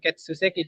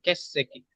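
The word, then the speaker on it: 欠席: Oh, Baca ketsu karena dia campur seki, bukan ketsu seki, dia jadi kesseki. Su-nya Keseki. jadi su kecil, kesseki gitu.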